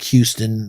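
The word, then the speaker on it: Houstan: that's the number he'll have khalib hustan h-o-u-s-t-a-n but it's pronounced like houston like the the city six nine can shoot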